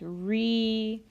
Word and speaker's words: Ri: solfege syllable is Li notice that all of the raised solfege syllables end with the letter I or the sound e so we're just changing the vowel sound on the regular solfege syllables so dough when it's raised a half step becomes D ray becomes REE becomes fee so will become C and law becomes Li so that's a good